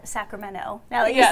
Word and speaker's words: Sacramento: But what I loved about their conversation was the discussion about the accent of Sacramento.